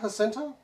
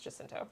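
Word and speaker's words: Jacinto: going to be there wait it's not hinto not to my knowledge and I might be I've always heard it pronounce jinto okay I don't know that I've ever heard him say his own last name but I've always heard jento for him specifically if you watch anything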